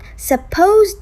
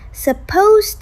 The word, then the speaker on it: supposed: Most speakers actually drop the final d sound in supposed. Right, it's not supposed to. It's more like supposed to.